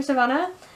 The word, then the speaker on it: Sivana: Hyer pronounces sivanna effing that's how you pronounce it dr. sivana and the seven deadly sins which was cool